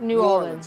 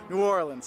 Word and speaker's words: New Orleans: It's like new like new and then or like what you row a boat with and then lens like a camera lens. That's how you say it. New Orleans. And you put the emphasis on that or.